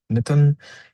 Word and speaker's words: Mitun: Uh Mittton sounds very similar to the mitten that you wear in your hand.